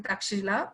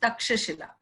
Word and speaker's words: Takshashila: Okay, in English it's written Takshila, but generally in Sanskrit it is pronounced Takshashila.